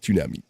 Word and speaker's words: tsunami: You have to pronounce the T. Tsunami.